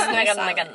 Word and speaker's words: Ngungun: I would have said Ngungun. No, it's Ngungun. It's not silent.